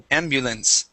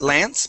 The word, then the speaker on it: ambulance: ambulance ambulance good and that a at the end would be an e sound ambul ambulance not Lance but lens ambulance try that ambulance